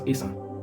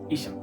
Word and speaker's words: Esan: The inability for the British to pronounce Esan, they call it Ishan, where it's okay in this context.